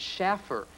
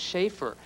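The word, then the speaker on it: Shaffer: But I just thought, well, maybe if you spell it that way, people will pronounce it Schaffer instead of Schaefer.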